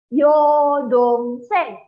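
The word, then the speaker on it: 여동생: Adik yang perempuan itu bacanya adalah yodongseng.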